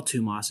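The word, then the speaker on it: thymos: concept is tumas now the way you spell tumas is t h y m oos but I believe the correct pronunciation is tumas the concept of tumas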